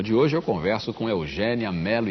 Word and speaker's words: Eugénia: Eugênia Melo e Castro, você deve ter percebido que eu fiz um esforço aqui para dizer Eugênia. E não Eugênia. E não né? Eugênia. O seu nome se escreve com acento agudo.